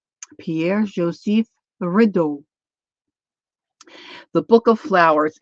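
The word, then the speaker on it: Pierre-Joseph Redouté: Now, I listened to how his name is pronounced. Pierre Joseph Rideau.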